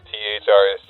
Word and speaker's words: THRST: THRST, yeah. It's kind of cool the way it's spelled. I get a lot of people saying first coffee. And after the third time I've corrected, I'm just like, yeah, first.